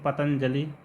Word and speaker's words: पतंजलि: तो जो यहाँ पर अनुस्वार लगा देते हैं, जैसे पतंजलि हिंदी में ऐसे लिखा जाता है, तो ये रूप गलत है, क्योंकि यहाँ पर जो अनुस्वार है इसका उच्चारण आधा या के समान किया जाता है, पतंजलि।